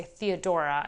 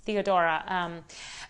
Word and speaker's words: Theodora: oratorio in english actually i should say theodora i shouldn't italianate italianize the pronunciation because it's theodora and it is an